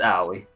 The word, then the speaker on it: Aoi: Yeah, it's Aoi.